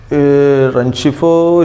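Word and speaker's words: Rengifo: Renchifo, it's correct pronunciation.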